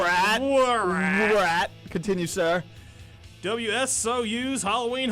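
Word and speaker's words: WRAT: It's rat. The W is silent. Rat.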